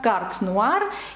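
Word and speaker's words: Carte Noire: її називають в нас картнуар і зараз Подивіться як це пишеться ви вже розумієте що наприкінці слів не читається літера е і все закономірно згадаємо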